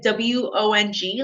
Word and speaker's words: Huang: my name is huang you can say it like w-o-n-g like wong um like you're going the wrong way but i will help